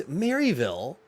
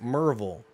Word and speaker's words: Maryville: merv there maryville yes if you want to pronounce it gregory it's maryville yeah but it's marvel it's marvel marvel tennessee yeah and it's lafayette